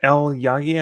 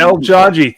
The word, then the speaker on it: El Jaji: properly first of all it's actually El jaji thank you sorry I got that now like Jackie with a J it comes from Magic